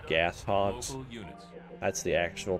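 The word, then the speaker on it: Gauss Hog: local units or I'm sorry did I say gos I meant to say gas Hogs that's the actual pronunciation ation for them local local now me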